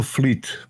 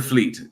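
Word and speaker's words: Vliet: and it's from Fleet Fleet so that that V is like an F yes okay Fleet okay fantastic awesome thank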